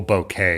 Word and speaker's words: bokeh: that you want to see real bokeh well bouquet is how they decided it's pronounced now but oh he